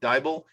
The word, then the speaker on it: Diable: leaders, Tanya and Charlie Diable. It rhymes with Bible. She taught me that yesterday.